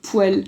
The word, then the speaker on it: poêle: les gens qui disent une poêle alors que ça se prononce et bien sûr poil oui mais c'est pas